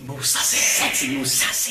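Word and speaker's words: Mousasi: And then it's Musasi. Musasi. It's kind of like Mufasa. It's like Mufasa. From Lion King. Mufasa. So, okay, so you're taking Musasi.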